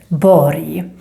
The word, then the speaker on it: borg: So you need to think Borg, J sound, when you see the combination RG.